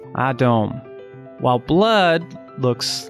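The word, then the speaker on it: אדום: For example, red in Hebrew looks like this, and it's pronounced Adom, while blood looks like this, and is pronounced Dam.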